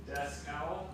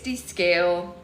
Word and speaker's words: descale: Descowl? Descowl. Descowl. It's descale. But that's okay. Say it like that though next time. Descale. You said descowl.